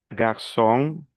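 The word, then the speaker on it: garçon: La ru music, la cedille se pronuncia como una s. Ejemplo, garsón, masón, francés.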